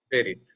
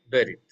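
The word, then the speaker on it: בְּרִית: So vocal Shiva is a short, or so to say, hurried E sound. Like, ba, not ba, not ba, not berit, not berit. It is ba, berit. Okay, berit.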